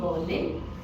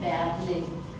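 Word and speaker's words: Berlin: air okay air like in English we से बोर्लिन but German में हम उसको बोलते हैं बैबलिन ओके हम उसको बोलते हैं बैलन ओके सो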